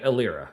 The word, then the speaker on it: Illyria: Is it Illyria, by the way? Is that how I pronounce it? Yeah, Illyria, yes.